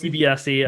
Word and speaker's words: DiBiase: DiBiase, I'm going to keep saying. And actually on NXT, he's been referred to a few times, and the pronunciation is more like what I'm saying, so I'm going to stick with that.